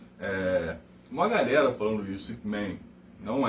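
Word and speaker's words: Ip Man: ipman uma coisa e não é ipman ele não é o Superman não é inglês certo é IP ipman e até minha pronúncia não é muito boa em chinês eu sou eu sou péssimo em pronúncia certo mas não é Main é Man eu vejo muita gente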